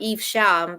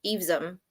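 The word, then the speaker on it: Evesham: heard of this but I would say e uh eam not eeve sham but eom okay agreed yeah eum all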